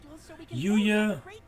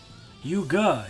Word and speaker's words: Yuga: Yuya. Wait, did I just read his name wrong? Yuga. His name's Yuga. Alright.